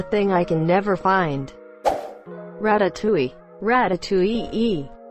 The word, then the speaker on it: ratatouille: mind that's the thing I can never find ratatouille ratatouille II not really but English people struggle with a sound Hill in French it's really pronounced ratatouille well that's the closest I can do haha